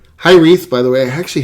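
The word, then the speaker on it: Hiraeth: It is pronounced Hyreth, by the way. I actually had to look up how to pronounce it. I'm an idiot when it comes to pronunciation. And it's a Welsh word, which means a feeling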